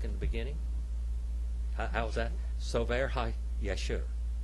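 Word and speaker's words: ספר הישר: Sofer HaYeshur. Sofer HaYeshur.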